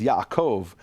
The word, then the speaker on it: Yaakov: The letter bet with a dot is B, without a dot is V. The example is Yaakov, Jacob. In English, it's Jacob, but in English, it's Yaakov, what we call a soft bet. A soft bet is a V sound.